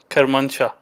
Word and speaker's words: Kermanshah: I'm gonna butcher the name. Kermanshah. Is that how you say the town? Yeah, Kermanshah.